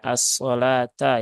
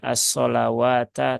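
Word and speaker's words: الصلاة: kita ulas kembali nah ini dibacanya assata ya bukan asawata tetapi asata wya nya di sini ini tidak dibaca jadi ini memang penulisan rosemnya begitu dan ini Nanti biasanya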